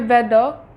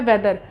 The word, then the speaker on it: whether: इसका भी pronunciation same होता है वेदर। विदर ऐसा मत समझिएगा कि ये WEATHER है तो ये विदर हो जाएगा, नहीं, ये भी हमारा वेदर है और ये भी हमारा वेदर है।